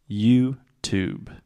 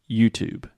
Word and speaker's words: YouTube: is the B sound there is no e at the end in writing there is an e but in speaking the E is silent YouTube YouTube okay so you